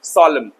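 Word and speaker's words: solemn: The next word is सोलमन इसको सॉललेमन पढ़ते हैं एन साइलेंट कर दो सोलेमन गंभीर the condition is very very सॉलम।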